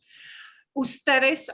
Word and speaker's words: ustedes: Ustedes often gets a shorthand UDS period. Again, it's an abbreviation, but you pronounce it as ustedes, okay?